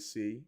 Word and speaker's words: Sei: of say or sei some people call me I just call it say say blockchain or say depending